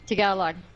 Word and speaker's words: Tagalog: I was pronouncing it wrong. Tagalog.